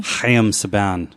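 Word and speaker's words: Haim Saban: And then apparently too, it's not Ham, it's Hayam. Oh, fuck. Really? Hayam Saban is how you say it or something like that.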